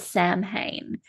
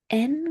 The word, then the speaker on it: Samhain: So, it looks like it's called Sam Hayne. But, we actually pronounce it with um its Celtic roots, which is so sen would be the way